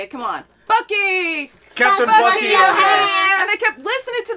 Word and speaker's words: Bucky O'Hare: Bucky O'Hare. That's not how you say it. Come on. Bucky! Captain Bucky O'Hare!